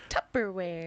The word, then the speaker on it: Tupperware: that you put your left doors in Tu tubberware yeah tubberware I didn't want to say the word because I didn't I wanted to see if you could say it right or not no yeah Tupperware Tupperware I I thought I was in the